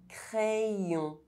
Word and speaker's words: crayon: Y is pronounced Ye when between vowels. Crayon.